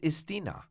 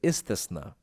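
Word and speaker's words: Istisna: these contracts what is istina no Ali you pronounced it wrong it is isna it is a contract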